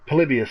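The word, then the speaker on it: Polybius: Palibius.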